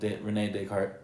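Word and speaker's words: René Descartes: name one more time Renee deart okay yeah spelled dartz or whatever but it's French so cool so Renee deart is this guy he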